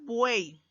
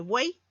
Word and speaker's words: buey: La palabra buey. U es vocal cerrada. E es vocal abierta y la Y al final de una sílaba se la considera una semivocal que funciona como una I. Por lo tanto, tendríamos tres vocales. Cumple la regla, por eso que buey es una sola sílaba.